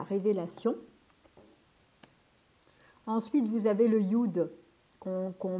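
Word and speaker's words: יוד: Ensuite, vous avez le Yud qu'on marque Yod, mais c'est Yud parce qu'en fait, si vous voulez, ou ça existe, c'est compliqué en fait à marquer. Donc du coup, on met Yod, mais c'est Yud, on prononce Yud en hébreu.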